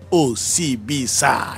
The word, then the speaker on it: Osibisa: it OCB sa well that's that's the Rhythm you know but if you want to pronounce it it's okay welcome welcome